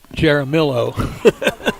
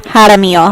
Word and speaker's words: Jaramillo: He never learned Hispanic pronunciations of of Spanish names. So he would read this from Dominic and say Dominic Jaramillo. In español es Jaramillo.